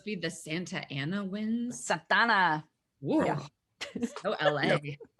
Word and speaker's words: Santa Ana: Santana. Whoa. Yeah. So LA. You got to say it like that. If you're from Southern California, you can't just say Santa Ana.